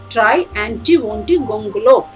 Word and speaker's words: Triantiwontigongolope: Try anti-wonty, try anti-wonty gongolo.